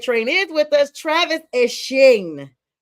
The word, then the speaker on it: Etienne: He said he is not Etienne and neither is his brother. He is now going back to the Bayou State and he is Etienne, which is how the French and Creole call it.